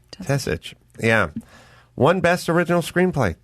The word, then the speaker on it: Tesich: Steve, is it, how do we pronounce, written by Steve Tisich? Tesich.